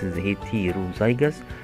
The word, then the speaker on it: heterozygous: Scientists use the word heterozygous, pronounced heterozygous, to describe having two different alleles.